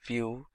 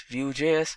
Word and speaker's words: Vue: Vue.js is commonly referred to as Vue and pronounced as Vue.js or Vue is rightly so.